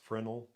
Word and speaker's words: Fresnel: mm phas fresnal or frenel or however you pronounce that it's I think it's the the frenel is it looks like fresnel but it's somebody's last name and it's pronounced frenel but anyway there's an